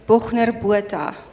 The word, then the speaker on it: Bochner Botha: firstly, since I butchered your surname, tell me how to say it properly. It's Bochner Botha.